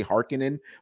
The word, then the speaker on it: Harkonnen: i know in the movie they say harkin in but i've read it as harkonnen so forgive me i'm just going to call it it's funny because the old movie too that's how they pronounced it yeah yeah so